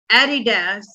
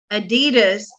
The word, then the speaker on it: Adidas: So, first of all, just to clarify, before we get hate comments in the YouTube, Adidas is the UK pronunciation. Adidas is the USA pronunciation.